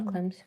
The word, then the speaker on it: Klimt: Gustav Klimt's.